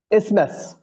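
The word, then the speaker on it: isthmus: इसनेस ठीक हो गया। इसमें टीए को हम साकिन कर लेंगे। उसको उसकी जो आवाज है उसको साइलेंट कर देंगे।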